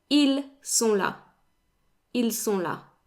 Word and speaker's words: ils: Now, they end in an S, as you can see, but the S is silent, so they're pronounced the same as il and elles in the singular.